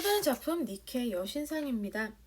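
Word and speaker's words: Nike: 또 다른 작품 니케 여신상입니다. 니케 스펠링 니케 이렇게죠. 그래서 나이키 우리가 알고 있는 그 브랜드인데요.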